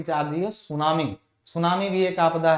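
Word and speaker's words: tsunami: गिरता है कि चाहिए सुनामी सुनामी बेकार पड़ा है सुनामी के बारे में बताया है कि सुनामी क्या एक जापानी शब्द है उच्चारण सूनामी जिसका मूल अर्थ बंदरगाह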